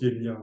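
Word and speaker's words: yajña: Alors parfois on écrit yenya, yaga, mais ça se prononce yenya hein, au sanskrit.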